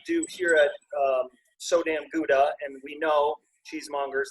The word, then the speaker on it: Gouda: But what we do here at So Damn Gouda, and we know cheesemongers, that's not how you say it. You know it's Gouda, but it doesn't work